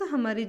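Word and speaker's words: ح: मोटा पढ़ेंगे हा हा इसको हम प्रोनाउंस करते वक्त यह जो आवाज है ना यह आवाज हलक में से हमें निकालना चाहिए हा हा इसको जस्ट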